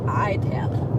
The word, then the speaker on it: Attalla: It's spelled Attalla. Yep, right? yep. But Waze, the app, that we use when we are navigating, she called it Itala. Yeah, Waze said Itala, even though it's spelled with A.